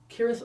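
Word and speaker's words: Cirith Ungol: They're heading onto Smeagol's lair, and they are on the stairs at Corinth Ungol, which apparently I pronounce it with a hard C.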